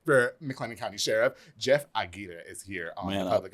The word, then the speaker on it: Aguirre: Aguirre. You got to roll them.